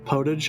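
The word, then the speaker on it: potage: it was right yes it's right in French but I get pronounced that way in English too thank you now I'll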